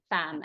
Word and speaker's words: femme: You say it like it's an A, femme, elegant femme, but it's a mix of French and English, right?